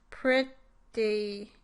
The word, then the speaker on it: pretty: Here is the word pretty with a true E at the end versus the more typical pronunciation of the vowel. Pretty versus pretty. When I say the second vowel in pretty in a normal, not exaggerated way, my lips are more relaxed, like for the I sound, than spread like